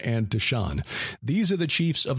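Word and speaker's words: Dishan: gal of andreas d-i-s-h-o-n and d-i-s-h-a-n deshone and deshawn these are the chiefs of the horites the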